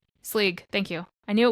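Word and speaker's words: Sgaeyl: Slisiag? Sleeg.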